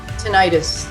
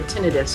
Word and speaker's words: tinnitus: have all the comorbidities we have tinnitus or tinnitus however you want to pronounce it we have auditory processing